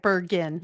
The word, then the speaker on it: Bergen: Bergin.